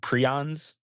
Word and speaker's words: prion: Like, Yeah, we got some Kuru news if you want to talk about prions. Kuru. Oh, And it's pronounced prion.